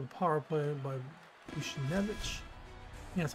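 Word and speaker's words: Buchnevich: Louis gets on the board with a power play by Bushnevich.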